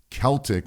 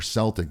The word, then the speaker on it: Celtic: sea salt as well unless it's Celtic or Celtic depending how you say it Celtic Sea salt